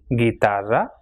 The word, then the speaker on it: guitarra: And GUI is pronounced as gi. So we have examples for this pronunciation, words like guitarra, conseguir, or guiar.